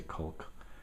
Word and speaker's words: caulk: Used to work with a guy, I always would say caulk. The L is silent.